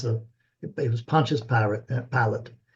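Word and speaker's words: Pilate: think it was Pilatus I don't know how to pronounce that in English pilot no P pil pilot pilot okay thank you that one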